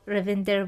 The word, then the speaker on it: Ravinder: I'm very much looking forward to the interview and I really appreciate the fact that you're pronouncing my name totally perfectly Indian style.